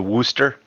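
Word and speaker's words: Worcester: you mean Dorchester right ever been to Worster I have wer wer wer doesn't exist wer and it's spelled all all sideways it's actually spelled Worchester Worchester Worchester your sauce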